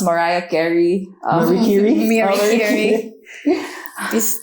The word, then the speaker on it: Mariah Carey: I love Marie Carey. I guess it's I think it's pronounced Mariah Carey.